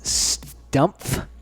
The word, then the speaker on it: Stumpf: This is our friend Kim, and you pronounce Kim's last name as Stumpf. Very good. With the P and the F.